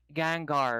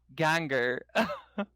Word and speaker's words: Gengar: supposedly a lot of pokemon names i've been pronouncing wrong and i didn't know until people started telling me so it's gengar right gengar the ghost i i used to call it gangur gengar yeah like i was like i was